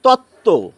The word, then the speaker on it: তত্ত্ব: অনেক রয়েছে বন্ধুরা যেমন তত্ত্ব তয় তয় বই তয় তয় নিচে ব রয়েছে কিন্তু এই ব এর কোন উচ্চারণ আমরা করি না যেরকমটি এই প্রথমে থাকলে